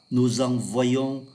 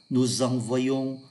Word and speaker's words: envoyons: hai vị trí là ngôi thứ nhất, ngôi thứ hai số nhiều là oai. Tôi xin đọc lại: j'envoie, tu envoies, il envoie, nous envoyons, vous envoyez, ils envoient.